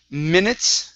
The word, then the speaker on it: minutes: And next up is minutes. Right here. Give me a good TS or T and an S sound at the end.